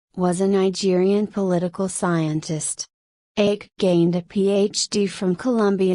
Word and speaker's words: Ake: Ake, pronounced Ake, was one of 142 people killed when the plane, operated by a local airline, Aviation Development Company, crashed, leaving no survivors.